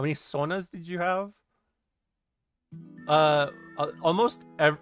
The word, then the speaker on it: sauna: works white hey you said that how many sonas did you have uh almost there's like 50%